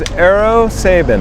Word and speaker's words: Eero Sabin: Yeah, my name is Eero Sabin. And can you spell that out for me, please?